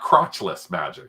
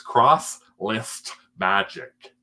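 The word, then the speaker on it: Crosslist Magic: up C I know it's not crotch list magic it's not it's CR other people say I say it too fast it's cross list magic I'm gonna have to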